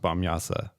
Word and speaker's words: Bamyasi: it up that it's technically pronounced Bamyasa even though that's an I.